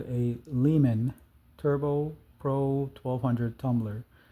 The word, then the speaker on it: Lyman: Um, so this tumbler is called a Lehman Turbo Pro 1200 tumbler. So Lehman is spelled Lyman. So that's Lima, Yankee, Mike, Alpha, November.